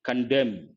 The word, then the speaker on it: condemn: Underwrite, understate, ignore, condemn. Here, N is silent.